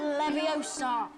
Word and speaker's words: Leviosa: Wingardium Leviosa.